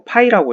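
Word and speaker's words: φ: 그래서 이렇게 이거 파이라고 읽어요.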